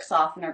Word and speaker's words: softener: But in the word soften or softener, the T is silent.